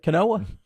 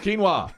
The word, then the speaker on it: quinoa: balls yeah aren't those that is that Canoa oh quinoa yeah the quinoa clear balls